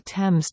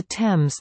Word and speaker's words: Thames: The river's name has always been pronounced with a simple t, t.